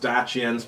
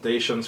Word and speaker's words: Dacians: Actually, they're pronounced Dacians, but everyone calls them Dacians for some reason.